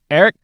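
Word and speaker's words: Airk: that for me playing Eric Thor bearer all of that name is unspell because it sounded like he said Eric right but I thought it was Eric it's spelled a i k oh okay he's the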